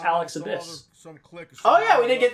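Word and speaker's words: Alex Abbiss: It's pronounced Alex Abyss.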